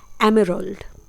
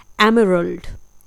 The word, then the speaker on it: emerald: तो जी, पन्ना को हम इंग्लिश में बोलते हैं एमेरल्ड। स्पेलिंग है EMERALD। जी हाँ, इसे हम प्रोनाउंस करते हैं एमेरल्ड। एक बार फिर से, एमेरल्ड।